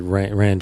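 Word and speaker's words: Rian: already confirmed, directed by is it Rand Johnson? Is that how you say his name? Rand. Yeah. Right. I think probably just Ryan or something like that. Yeah. R-I-A-N. Ryan. Yeah, Ryan probably. Ryan Johnson.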